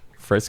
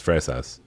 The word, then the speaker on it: fresa: Fres. That's that. I guess I should try to roll the R so that you understand it's an R.